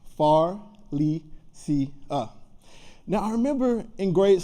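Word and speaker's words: Pharlesia: was my mom's name Faria p h a r l e s i a nine letters four syllables far Le C now I remember in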